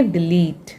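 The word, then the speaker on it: delete: फिर ये टी का साउंड होता है ट, ठीक है, और ये वाला ई लास्ट में है इसलिए ये साइलेंट रहेगा, तो इसे हम कैसे पढ़ेंगे, डिलीट, डिलीट मतलब मिटाना।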